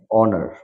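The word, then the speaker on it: honour: এই শব্দ স্ক্রিনে প্রদর্শিত এই শব্দগুলোতে এইচ লেটারটা উইল বি সাইলেন্ট। তো যেমন আমরা দেখতে পাচ্ছি এখানে অনার, অনার এইচ শব্দটা হবে না, অনার ও থেকে শুরু হবে, ও থেকে শুরু হবে।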